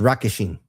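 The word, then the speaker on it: Rockasheen: The way with it's not Regishen, it's Rockishin. R-O-C-K. And it's actually the true spelling that I looked this up from an actual existing dragon's name is R-O-C-K-A-S-H-E-E-N. It's Rockishin.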